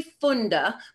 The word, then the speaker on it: Funda: that yeah it's close it's actually funda but it looks like fun so it's a little deceptive and that's actually why